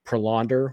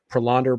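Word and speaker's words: Prelander: uh and then it certainly looks like uh prolonder which is how you pronounce it by the way apparently I've been told prolonder barroa is going to be up uh here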